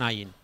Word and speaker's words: ayin: De l'ull, un altre so difícil de pronunciar, és com si volguéssiu dir una R francesa però des del fons del coll, un i no acabéssiu de dir-ho, d'acord?